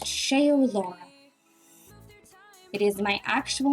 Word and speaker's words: Shaeolaura: Um, how do I pronounce my username? My username is pronounced shaol Laura.